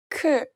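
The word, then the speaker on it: ㅋ: The first consonant is 크, 크, 크, 크, 크. This is the aspirated version of this consonant.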